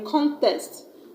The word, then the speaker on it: contest: to win a cup and I've stressed on the first level contest con this there were no what is it I swear I'm going to stress on the second level I don't contest the fact that stress is very stressful to non-native speakers now let's move to